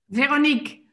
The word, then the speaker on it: Veronique: How do you pronounce it? Veronique. Veronique. Very good. Veronique. It's French, but I'm Dutch.